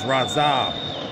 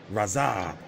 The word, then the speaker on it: Radzhab: Oh, it's Radzhab. The H is silent. Got it now. Radzhab.